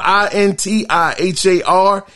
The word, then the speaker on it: Intihar: So in more news, Spider-Man 2 creative director Intihar, it's spelled I-N-T-I-H-A-R, Intihar, has confirmed in a kinda funny spoiler